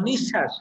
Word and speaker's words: নিঃশ্বাস: ক এর উচ্চারণটা দুইবার হচ্ছে কিন্তু ব এর উচ্চারণটা হচ্ছে না তাহলে পদের শেষে যদি ব ফলা থাকে আবার যদি বলি দেখো নিঃশ্বাস কি বললাম নিঃশ্বাস তাহলে নিঃশ্বাস আমাদের ব ফলাটা